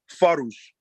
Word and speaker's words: farush: This word is pronounced farush.